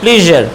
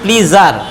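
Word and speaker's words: pleasure: ইটস মাই প্লিজার, আমরা বলি ইটস মাই প্লিজার, ইটস মাই প্লিজার, এইভাবে সাধারণত আমরা উচ্চারণ করি, কিন্তু উচ্চারণটা হবে ইটস মাই প্লিজার। জ শেষে যেহেতু আছে SURE, তার উচ্চারণটা হবে প্লিজা, প্লিজা।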